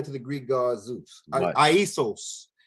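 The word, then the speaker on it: Ἰησοῦς: Aisos is how they say it in the Greek.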